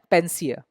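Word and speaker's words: panacea: आगे बढ़ते हैं, ये एक नाउन है पेंसिया। अभी इसका उच्चारण उसके स्पेलिंग से थोड़ा अलग है।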